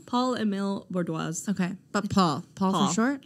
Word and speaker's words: Paul-Émile: pronouncing his name right paula mill paul emil okay but paul paul